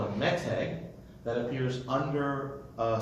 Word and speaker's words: meteg: Meteg? Meteg. M-E-T-E-G? Sure. Sounds Because it's a Hebrew word, so you could be transliterated any which way. But in Ashkenaz pronunciation, it would be called a meseg, right?